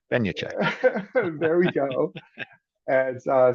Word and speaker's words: Benjatschek: be in the title I had to spell it out phonetically but Ben Che Ben Che there we go and